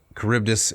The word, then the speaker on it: Charybdis: Oh, so Charybdis is made to rhyme with apprentice.